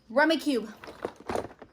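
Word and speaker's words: Rummikub: Rummy Cube.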